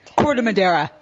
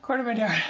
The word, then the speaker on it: Corte Madera: Corte Madera. Corte Madera.